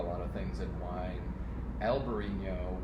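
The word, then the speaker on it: Albariño: of things in wine alberino would be the spanish pronunciation in alvarino a little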